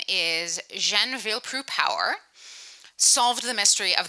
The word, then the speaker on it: Jeanne: Jeanne rhymes with Ben, more or less. This is Ben Franklin, to help us remember that.